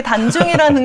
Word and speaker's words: 단중: 그럼 원장님 이게 단중이라는 게 전중혈이랑도 같은 자리인가요 혹시? 네. 원래 단중이라고도 하고 전중이라고도 하는데 아, 네. 사실 이제 정확한 발음은 단중이 더 맞다라고 아, 나와 그렇군요.